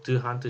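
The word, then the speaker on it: D'Hondt: 영어로는 드 한트 시스템이라고 하고 원어 발음은 동트 시스템 상라게.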